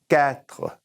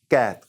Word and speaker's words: quatre: But the Q is going to have a K sound. So, K, quatre, or quatre. It's softened it up. You hear it both ways.